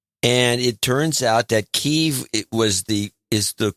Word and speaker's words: Kyiv: longer said because that's still like 80s, but Kiev. But this Kyiv thing, we discussed this when it first showed up in the news, which was during the Obama era. Yeah. And it turns out that Kyiv is the correct pronunciation, but it's affected.